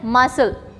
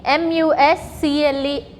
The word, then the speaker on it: muscle: Next word we have to write as muscle. Okay, M-U-S-C-L-E, muscle. M-U-S-C-L-E, muscle. So here C again is silent, है ना?